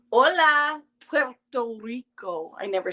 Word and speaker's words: Puerto Rico: Hi from Puerto Rico. Hola, Puerto Rico. I never say it right. Puerto Rico.